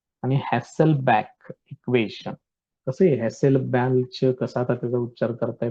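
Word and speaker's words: Hasselbalch: कसं आहे हॅसेलबॅक, कसा आता त्याचा उच्चार करताय बघा, स्पेलिंग लक्षात ठेवा.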